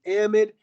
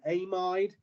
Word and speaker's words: amide: But if we have a carbonyl adjacent to that NH2, then this is called an amide. Sometimes people pronounce it an amide. If you're British, they call it an amide.